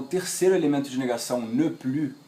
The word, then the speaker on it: plus: Atenção, porque o S aqui do plus não pronuncio. Plus, ok?